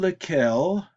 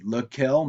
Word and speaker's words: lequel: So it can be lequel, masculine singular, laquelle for feminine singular, lesquels for masculine plural, and lesquelles for feminine plural. Now, all four are pronounced the same, but all four are spelled differently.